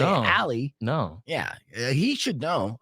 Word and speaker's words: Ali: who's a dude who gets extremely offended when you say ollie right really yeah because it's not how you're it's not a proper pronunciation you know yeah so